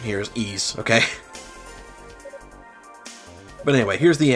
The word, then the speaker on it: Ys: only thing I know for sure with my pronunciation here is ease okay but anyway here's the annex and that's